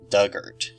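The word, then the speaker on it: Dugort: her no I'm glad it's giving me these pronunciations because my word Doug hurt Doug hurt giant rhubarb this is the common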